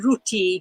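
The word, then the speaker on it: রুটি: Roti is like a flatbread, and yeah, so we actually also use the same word, but the Bengali pronunciation is ruti. So yeah, that's how we pronounce it.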